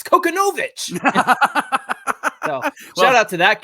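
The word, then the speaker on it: Kochanowicz: I gotta laugh because at some point we were talking about Konowitz and somebody was like, "You guys are saying it all wrong. It's Konowitz."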